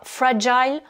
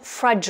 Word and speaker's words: fragile: incontournables en anglais fragile attention vous avez deux types de prononciation soit free jazz ou fradj on a donc là aussi le us et le son choix et on accentue sur la sur la première syllabe j'ai souligné les syllabes